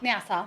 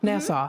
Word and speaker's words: Nassau: And then, how do you pronounce it? Is it Nassau? Nassau. Nassau.